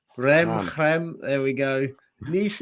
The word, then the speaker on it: Reims: Stade Reims, isn't it? Stade Reims. Rem.